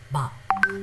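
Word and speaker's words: 밥: So it's neither bab nor bhab nor bhab. It is not that. It is bab. Somewhere between b and b.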